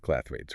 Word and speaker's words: clathrates: You pronounced it clather rates, right?